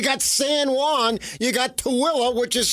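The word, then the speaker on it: Tooele: in Utah you got SA Juan you got TOA which is spelled t o o e l e you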